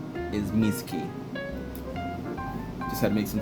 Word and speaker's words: Mizuki: VY2's name is Yuma, and VY1's name is Mizuki.